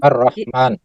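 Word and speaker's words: الرحمن: Bagaimana cara membacanya? Dileburkan. Ar-Rahman.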